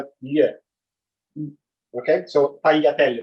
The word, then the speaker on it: tagliatelle: By the way, if you see in Italian GL, it's not spelled gl, it's spelled gl. Okay, so tagliatelle, not tagliatelle.